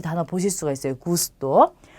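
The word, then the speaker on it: gusto: 자, 이 단어는 고르도라고 읽겠죠. 그 다음에 이 단어는 구스토라고 합니다.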